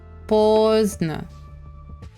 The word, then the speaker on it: поздно: The N, D is not pronounced. Праздник. Поздно. Звездный. No D. No D for you guys.